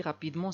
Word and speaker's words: rapidement: lentement c'est un adverbe il marche rapidement aussi rapidement c'est un adverbe c'est pour cela qu'on